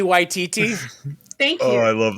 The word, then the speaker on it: Waititi: If Kiki Watiti. I'm saying his name wrong. Kiki Waititi.